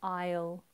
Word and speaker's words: I'll: go through those again I will aisle aisle like walking down an aisle in a supermarket aisle you will be